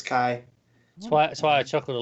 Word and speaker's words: Chi: Is it Chi? Is that how you pronounce it? Well, I'm going with the Greek. That's where it comes from. Is Chi.